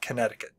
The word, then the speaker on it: Connecticut: cut but it's pronounced Connecticut we have a couple of states Arkansas being one of them that are not pronounced the way they look so uh Connecticut the